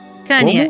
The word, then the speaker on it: Kanye: Como é que se pronuncia o nome dele? Você vai perguntar pra mim? Tá, ok. Kanye, isso, Kanye.